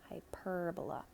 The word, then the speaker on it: hyperbola: Remember, we put the accent on the hyperbola.